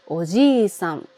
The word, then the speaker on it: おじさん: While for people from other country it’s difficult to distinguish “Ojisan” and “Oji—san” じっさいにネイティブの発音やピッチアクセントを聞いて、真似をすると、 If you